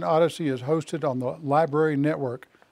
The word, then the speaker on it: LBRY: is hosted on the library network library is spelled lb y so if you're interested